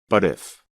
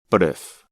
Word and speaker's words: but if: Instead, it sounds almost like the letter D and connects to the word if, like this. But if, but if, but if.